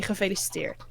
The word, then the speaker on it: gefeliciteerd: there's a few, but you mostly say gefeliciteerd.